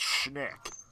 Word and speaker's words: Schnick: V, the correct pronunciation of my username, I mean, it's easy, it's Schnick.